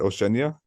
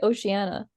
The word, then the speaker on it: Oceania: do you say it Oceania I say Oceana okay ocean yeah but the eye throws me off I ignore the eye okay which is probably wrong but and then also